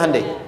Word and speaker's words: Hyundai: Hyundai kan dibacanya Handeai ya kan.